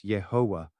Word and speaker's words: Yehovah: Presently, the widely acknowledged theological pronunciation is Yahweh, although a commonly used alternative is Yehovah, which closely resembles the vocalization of Adonai.